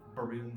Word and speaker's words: Berowne: Like Berowne is like often debated as to what his pronunciation is. Based on the rhyme scheme, Berowne seems like the one that's most accurate.